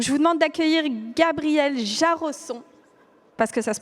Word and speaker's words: Jarosson: Donc je vous demande d'accueillir Gabriel Jarosson, parce que ça se prononce comme ça, investisseur privé et business angel, après avoir lui-même créé plusieurs startups.